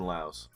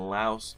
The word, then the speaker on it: Laos: we're gonna be in Laos I know it's not pronounced with the ass but you just gotta